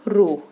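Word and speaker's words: rho: Proportionality के sign को remove करने के लिए हमने यहाँ पर कांस्टेंट इंट्रोड्यूस किया, वो है रो. इसे हम प्रोनाउंस करते हैं एज रो एंड इट is known as specific resistance और रेसिस्टिविटी.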